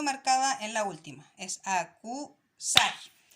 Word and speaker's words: acusar: Estas dos palabras son agudas. ¿Por qué? Porque se marcan en la última sílaba, ¿ya?